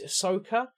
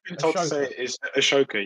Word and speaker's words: Ashoka: stories about um it's Ahsoka um the guy who bought Buddhism to India um I always pronounced his name wrong um ah it was I believe it a choker Ashoka yeah yeah yeah um but